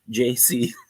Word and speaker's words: Jaycee: It's like JAYCEE. JC. Kind of like CD.